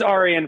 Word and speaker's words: Arian: how do you say it my name is Arian first of all and yeah I think like